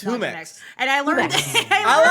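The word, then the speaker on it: Jumex: It It's HUMX. And I learned I like saying that that way a lot better. It makes more sense cuz that is how you pronounce J, but I just like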